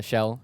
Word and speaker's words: Shell: Scholl. Shout out. Is that how you pronounce it? Shell. Damn it. Sorry. Dr. Shell, shout out.